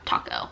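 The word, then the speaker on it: Tako: Next, we have Taco, which is also located in downtown Pittsburgh. Taco is spelled T-A-K-O, but it does serve tacos, T-A-C-O.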